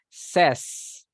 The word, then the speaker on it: says: gold okay be careful we don't say says we say SAS says yes very good Legend